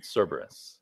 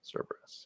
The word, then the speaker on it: Cerberus: don't know I I I usually pronounce it Cerberus but I'm probably wrong that's right that's how you do it I've just got all Mi stuff my head Cerberus Cerberus yeah yeah so was a long fun sequence